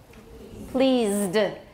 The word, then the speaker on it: pleased: Pleased. This is a Z and this is a D sound. One syllable.